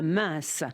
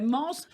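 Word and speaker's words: Mens: Mins, ça s'écrit M-E-N-S. Oui. Je savais d'ailleurs, je vous remercie de l'avoir prononcé, parce que je ne savais pas si on disait Mans ou mince, vous voyez.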